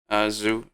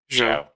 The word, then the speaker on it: Zhou: We have Leclerc DNF on that one, and Zhu. How do you say that again? Zhou.